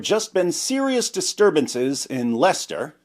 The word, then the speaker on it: Leicester: At the time, there had just been serious disturbances in Lester. Yes, Americans, it's pronounced Lester.